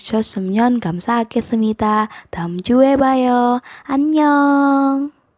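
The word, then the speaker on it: 안녕: yang pertama ada anyeong romanisasi nya itu an nyeong annyeong tapi dibacanya tetap annyeong karena yo yo ini walaupun romanisasi nya y o tapi tetap dibacanya joe jadinya annyeong annyeong hai lalu ada contoh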